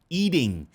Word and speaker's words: eating: E presta atenção na forma com que ele pronuncia eating. Eating, beleza, se fosse no inglês mais britânico, mas o norte-americano tem mania de colocar esse T como se fosse um leve D.